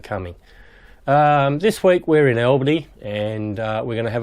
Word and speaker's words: Albany: And for those of you on the east coast, that's pronounced Albany, not Albany.